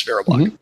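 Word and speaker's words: VeriBlock: block right did I say that correct yes Vera block okay and so they're going to talk about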